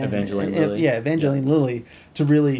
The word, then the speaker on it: Evangeline Lilly: Evangeline Lilly.